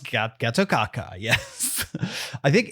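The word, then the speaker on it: Gatotkaca: Pronounced Getokaka, yes.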